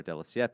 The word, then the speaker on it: Della Siepe: So if you see anyone with the name Della Siepe or Della Siepe, as they pronounce it in Italian, they came from that kid.